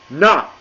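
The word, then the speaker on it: 那: as you can see, this has a falling tone. So not again, picture it like you're about to kick someone in the and you're like cursing them out. That's how you pronounce this. Not.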